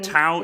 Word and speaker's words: Tau: Is it how you pronounce it? Yeah, Tau.